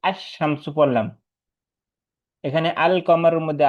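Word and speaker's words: الشمس: যেমন আশ শামসু উচ্চারণটা যেরকম ওইরকম হইলে হরফে শামসি।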